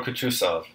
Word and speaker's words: Kutuzov: "General Kutuzov," said Bolkonski, speaking French, and stressing the last syllable of the general's name like a Frenchman.